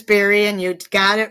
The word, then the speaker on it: Bari: So people always mispronounce it, but it is Barry, and you got it right the first time.